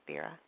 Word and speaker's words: Spira: Is it pronounced Spira or Spira?